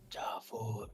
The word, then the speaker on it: Jaffar: And am I pronouncing your name correctly? Jaffar. Right. Jaffar. It's like a Lion King name.